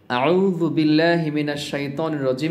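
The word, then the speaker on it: أعوذ بالله من الشيطان الرجيم: আমরা অনেকে এরকম বলি আতে টান দিয়ে ফেলি তো আতে কিন্তু টান দেওয়া যাবে না বা লম্বা করা যাবে না এই দিকটাও খেয়াল রাখতে হবে আউজুবিল্লাহি মিনাশ শাইতানির রাজিম এটা বলার ক্ষেত্রে অবশ্যই আ বলতে গেলে বা যখন আপনি আ বলবেন আ বলার সময় যেন টান না হয়ে যায় তাড়াতাড়ি বলতে হবে আ বলার পরে যখন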